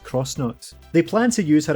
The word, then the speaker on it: X-Nauts: but by the X-Nauts, who I'm only just learning might actually be pronounced Cross-Nauts.